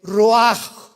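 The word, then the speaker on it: רוח: El roj, que la palabra hebrea para espíritu.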